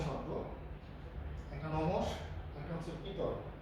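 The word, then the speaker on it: পিতঃ: যেমন ধরেন এটা ধরেন দুইটা তৎসম শব্দ, একটা নমস, একটা হচ্ছে পিতর। এখানে আছে একটা র এবং একটা স, কিন্তু সংস্কৃততে এই র আর স এর উচ্চারণ হয় না।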